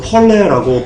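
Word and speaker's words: πόρνη: 자, 그런데요, 자, 이 음녀가요, 원어로요, 폴레라고 발음합니다. 폴레.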